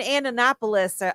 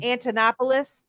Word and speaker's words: Antonopoulos: he first came in the space him and andonopoulos I always say his name wrong those two I was listening to a lot you know I'm talking about um Antonopoulos that guy super smart yeah yeah not pomp